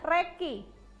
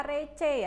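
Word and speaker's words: recce: cari istilah hunting itu namanya adalah Reki tulisannya receh tapi dibacanya Reki Jangan dibaca receh ya Tapi bacanya adalah Reiki ya ingat Bukan dibaca receh tapi Reki Jadi kalau kalian besok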